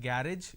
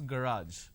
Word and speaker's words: garage: to clean the garage it's not garage it's garage a student at an